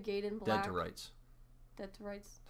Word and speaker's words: Dead to Rights: Crimson Skies, High Road to Revenge, Death to Rights, Ninja Gaiden Black. Dead to Rights. Dead to Rights. You said death. Oh, well, it's Dead to Rights.